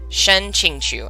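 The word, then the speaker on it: Shen Qingqiu: and apprenticed under the shuya sword shen king shen ching chu i think is how it's said yes it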